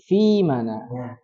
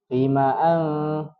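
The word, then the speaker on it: فيم: Fi-nya ada ya sukun. Ya sukun itu ada sukunnya, kalau enggak ya yang tidak berharokat. Nah, maka dia terbaca panjang sebagai mad tabi'i. Pokoknya kalau ada 3 huruf itu pasti panjang itu. Sudah pasti. Jadi dibaca fima. Jadi jangan fima'an seperti itu.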